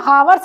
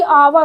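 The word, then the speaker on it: hour: तो ध्यान दीजिएगा, ये हावर्स नहीं होता बल्कि आवर होता है, यच यहाँ पे साइलेंट है, इसको कैसे पढ़ेंगे,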